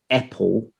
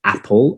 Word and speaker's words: apple: not they will say apple or hev and um i often tell them look that that's an open a so we have to say apple and have but it's very hard